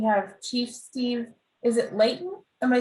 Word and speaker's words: Layton: pleasure to be here my name is steve layton i'm the new fire chief for the north